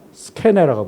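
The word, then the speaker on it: σκηνή: 스케네라고 불렀어요. C니 K가 C로만 바뀌었네요. 영어로 읽을 때 씬이라고 읽지만 이건 사실 헬라어에서 온 거예요. 스케네.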